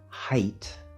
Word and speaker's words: height: Notice the word height, which is spelled H-E-I-G-H-T, but it's actually pronounced with the diphthong I, not the diphthong A.